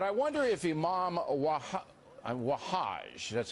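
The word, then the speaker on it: Wahhaj: Against Terror but I wonder if Imam waha wahaj that's how you say his name he's a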